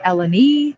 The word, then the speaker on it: Elenee: So in Greek, they do this thing where they put an accent on the syllable that is, what's the word? Highlighted, Okay, accented. sure. So my name could be Elenee, it could be Hmm. Elenee, or it could be Elenee, depending on where you put the little accent.